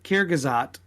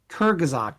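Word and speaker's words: Kurzgesagt: it wrong probably okay so it's actually kyrgyz act kerghazak sorry k-u-r-z-g-e-s-a-g-t a lot of the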